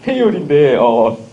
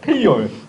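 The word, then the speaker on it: Fayol: 페이올인데, 처음에 잘한 입이 아니고, 페이올. 아, 이 프랑스 사람이라 발음이 이런 거야. 프랑스 사람. 페이올. 페이올이죠. 테일러 포드 미국 사람이지만, 페이올은 프랑스.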